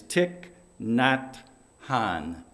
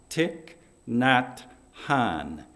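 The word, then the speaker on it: Thich Nhat Hanh: buddhist monk and a peace activist the correct pronunciation of his name is tic not han tic not han and these are his words as we cultivate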